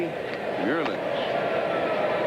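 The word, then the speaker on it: Meulens: kurasa speaking five languages I asked him how he pronounced his name how his mom pronounced it he said Hensley Mand try that one Mand that was good all right I'm going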